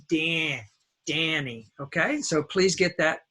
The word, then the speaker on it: Danny: dance, man, ran, van, Danny. Now, some people say, hello, Donnie, but my name is not Donnie. Donnie is spelled D-O-N-N-Y. It's a short O sound.